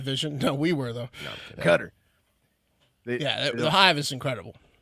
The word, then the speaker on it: Qatar: Cutter. Yeah, the hive is incredible. Does Cutter get upset if people call it Qatar?